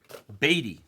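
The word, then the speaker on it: Baty: the f that's tilting people are correcting me to the wrong one people were correcting me to the wrong one that's messed up I was saying it right for months now all of a sudden I got corrected to the wrong version that's effed up batty Brett batty there you go that's what I've been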